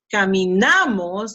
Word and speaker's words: caminamos: So we say camino, caminas, camino, oh sorry, camino, caminas, camina, caminamos, in this case is na, because it's second to last, caminamos, and then this one is caminan, see?